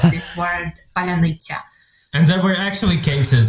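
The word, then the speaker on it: паляниця: that stuff but essentially in Ukrainian there is this word ban and this word is really difficult to pronounce for people who are Russ who are Russian speakers because this soft s is not really common in Russian language and so there were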